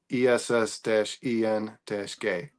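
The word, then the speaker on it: Essengue: those announcers were said they said like a very tongue rolling asangu but when I heard like British announcers it was as I looked I googled annunciation and pronunciation and it says esen-gay so Oh, those French.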